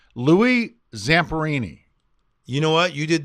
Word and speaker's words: Louis Zamperini: and how the listeners the best way to pronounce his name now you're putting me on the spot see it's Louie Zamperini you know what you did that flawless did